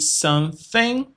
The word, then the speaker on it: something: I eat something. Something para fazer o som do th.